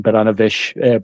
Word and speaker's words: Baranovic: Yeah, Like one part of my family is from the Polish part of Belarus, and so that name there is the Polish pronunciation for the Belarusian town.